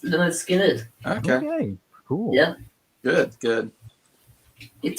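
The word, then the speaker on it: Lynyrd Skynyrd: So my number 3 is pronounced Leonard Skinner.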